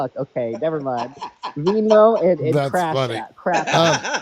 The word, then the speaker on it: Venmo: Venmo is the correct way to say it. I say Vimo because they don't they don't they don't like that.